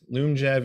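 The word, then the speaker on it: Lyumjev: inhaled insulin called afrezza so let's start with loom jab and fiasp and i'll say these over and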